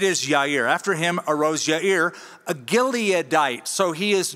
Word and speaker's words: Jair: After him, so after those 23 years of adjudication, after him arose Jair. That's how we usually pronounce it. That is a mispronunciation. The Hebrew pronunciation would be Yair.